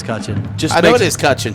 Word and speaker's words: Cutchin: Yeah, I mean, hey, look, you would be surprised at how many people mispronounce this. So it's almost to the point where I don't even hear it half the time. But yes, it is Cutchin.